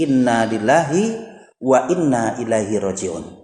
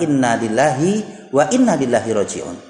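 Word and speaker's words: إنا لله وإنا إليه راجعون: wa inna ilaihi rojiun hati-hati dalam pengucapan lafal ini karena masih ya orang yang mengucapkan lafal ini dengan kalimat innalillahi wa Innalillahi roji'un merasakan lagi bisa Tekan kan pengucapannya adalah innalillahi wa inna ilaihi rojiun itu adalah Apabila terjadi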